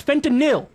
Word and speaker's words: fentanyl: It's fentanyl. N-Y-L. N-Y-L. Fentanyl. Fentanyl. Not no. Not no. It's not N-O-L.